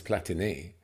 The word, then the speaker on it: Platini: a long time um everyone used to call him Michel platini didn't they and it's platini yeah obviously like Bola and